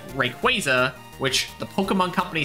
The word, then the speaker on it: Rayquaza: me but Rayquaza does because I've always said Rayquaza um it's also the correct pronunciation and Rio Nicholas is also there I